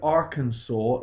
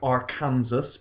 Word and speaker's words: Arkansas: the death penalty in Arkansas now that word Arkansas looks like Arkansas but actually it's pronounced Arkansas and there it's quite a strange